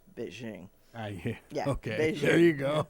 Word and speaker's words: Beijing: too well it's like what peaking in beijing yeah well it's beijing yeah okay there you